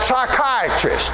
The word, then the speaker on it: psychiatrist: the P is silent we have words like that like a like psychiatrist you know it starts with the peas but the P is silent and in the Greek